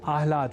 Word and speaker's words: आह्लाद: समझकर या न लिखकर हम आह्लाद अर्थात पहले ह और बाद में ल इस अक्षर विन्यास से युक्त शब्द आह्लाद का ही लेखन और तदनुसार शुद्ध उच्चारण करेंगे।